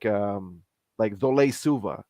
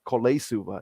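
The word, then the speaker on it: Colo-i-Suva: yeah, invisible letters, the C is pronounced the instead of ka. What? That. Yeah, so so like it's like we have places called like Zole Suva, but it's spelled CO. It's not Kole Suva, it's Zole Suva.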